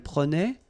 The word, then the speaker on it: prenait: Je prenais, tu prenais, il prenait, final T not pronounced.